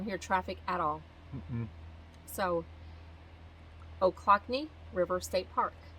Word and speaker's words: Ochlockonee: I don't know all the ranger said, "Oh, clock," and then she pointed to her knee. Ochlockonee. Ochlockonee. That's how you say it. What does Ochlockonee mean?